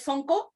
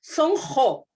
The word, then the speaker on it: Sonqo: Le digo, es que la palabra quechua se pronuncia como G, la Q. Entonces, ¿cómo es? ¿No es Sonco? No, es Sonjo.